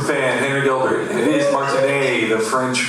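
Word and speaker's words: Martinet: Charles Martin Super Fan Henry Gilbert it is Martin the French pronunciation Al to remember that uh so I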